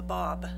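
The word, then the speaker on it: Báb: And prior to Bahala being declared as a messenger of God, there was someone called the Bob. That's spelled B A B not B O B.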